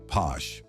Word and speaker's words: Pox: Posh. Pox, pronounced posh, is an indigenous spirit from the satsil Maya in Chiapas, Mexico.